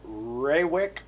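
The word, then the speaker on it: Rawik: this is uh well i pronounce it ray wick r-a-w-i-k and i guess that could be down be pronounced rawick but i believe it's pronounced ray wick so a nice foresty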